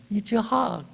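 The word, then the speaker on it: יצחק: 이 이삭이라고 하는 이름을 히브리어로는 이츠학이라고 발음하게 되더라고요. 자, 여기 이삭이라고 하는 이름 뜻은 웃음이라는 뜻이 있습니다. 이츠학, 아들을 낳고 얼마나 기쁘겠습니까?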